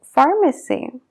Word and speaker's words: pharmacy: letra que ya existe, como la PH en las palabras phone o pharmacy. ¿Por qué existen esos casos? Porque no son palabras inglesas, son derivadas del griego. Hace muchos años sí que se pronunciaba la P y la H y por lo tanto se escribe con ellas. Pero con la evolución del idioma eso ha cambiado y ahora se pronuncia como una F.